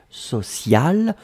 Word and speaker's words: sociale: Et donc le E à la fin, vous allez prononcer exactement de la même façon, social, mais vous devez quand même marquer le féminin puisque c'était directement lié au mot pression.